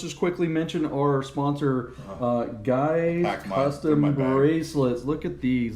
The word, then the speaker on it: GYX: So you can see there in the graphic below, it's spelled GYX. That's guys. That's how they pronounce it.